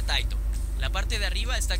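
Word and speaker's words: 𱁬: Tiene 84 trazos y se pronuncia Taito.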